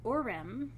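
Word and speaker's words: Urim: two energy streams and I'm gonna I'm gonna spell them and pronounce them for you the Orem you are I am and the Thummim okay Thu mmm I am these energy streams are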